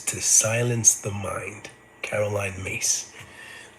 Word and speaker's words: Myss: Caroline Mace. Mace is spelled Myss. And it's Caroline with an E at the end.